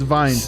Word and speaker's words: Wind: good luck wind oh it's vines it's vine yeah it's true oh